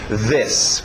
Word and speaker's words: this: Vocês olham para a letra I, querem dizer um I, mas esse I aberto de E, o som curto, E. This, ok?